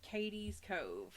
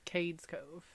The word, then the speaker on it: Cades Cove: I'm gonna talk about Katie's Cove that is how you say that right I've always heard it said Cades Cove Cades Cove yeah all